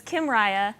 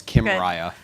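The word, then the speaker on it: Kymriah: Kim Riya and and tell us how to remember how to pronounce Kim right I didn't come up with this it's as if Kim Kardashian and Mariah Carey got married okay okay so it's Kim Mariah so with that image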